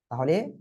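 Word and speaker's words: طاء: উচ্চারণটা কি হবে আমি যদি সহজে আপনাদের একটু বলি, তাহলে সিম্পল যে কি, ত এর সাথে একটা বফালা যোগ হবে, ত, অর্থাৎ এই ত অক্ষরটা একটু মোটা আওয়াজে হয়, ঠিক আছে?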